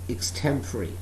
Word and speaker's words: extempore: extreme three without preparation mostly it is pronounced as pronounced as extempore never pronounce this word as extempore e-x-t-e-m-p-o-r-e that is extempory without preparation if somebody